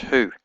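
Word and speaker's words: הוא: Hey, shurek, or vav with a little dot in it, aleph, and it's pronounced who, and it means he, but in this context it means that.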